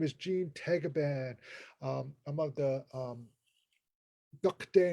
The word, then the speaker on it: Tagaban: And the Philippines is pronounced Tagaban.